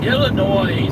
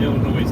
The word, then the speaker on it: Illinois: a little bit but Illinois is not as bad as Indiana but Illinois can be See the s is silent in Illinois but we say it